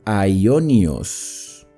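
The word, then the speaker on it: αἰώνιος: Y esta palabra eterno o sempiterno se pronuncia aionios.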